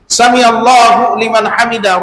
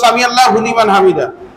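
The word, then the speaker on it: سمع الله لمن حمده: এই লিমান হামিদার জায়গায় এটা হা, এই হা উচ্চারণ না হলে অর্থের পরিবর্তন হয়ে যায়।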